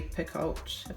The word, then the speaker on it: Picoult: through I'm kind of a fan of Jodi Picoult that's how you say her name her Thomas